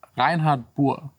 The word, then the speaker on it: Reinhardt: i speak german and it's a german name so i'll just pronounce it german like me fake english like it just doesn't work reinhardt that's the name that's how you pronounce it sounds very german but the guy is